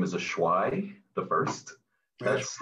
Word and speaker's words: Ashwi: and my name is ashwai the first that's like my real name a lot of people mispronounce it uh they messed up my name but um it's a schwa the first and um i'm